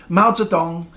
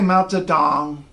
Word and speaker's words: Mao Zedong: see this whole name Mao Zedong in the middle of an English sentence you don't have to say mounts it on it's fun Mao Zedong don't say melted down come on on you